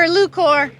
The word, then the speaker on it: Lucore: my name I'm Alex Hamner and I'm lucor who lukor he was asking me how to pronounce it Lor nothing fancy Lor awesome no